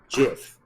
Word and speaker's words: GIF: guy is but it did confirm that you pronounce gif as jiff so created who created